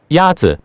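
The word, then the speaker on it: 鸭子: Yatze is pronounced with a first tone. In Mandarin, there are 4 tones, which are essential to distinguish the meaning of words. The first tone is a high, level tone.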